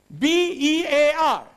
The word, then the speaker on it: bear: Then, B-E-A-R. Bear. What we say? Bear. It is not beer, it is bear. The word is? Bear. There is a difference between ear and air.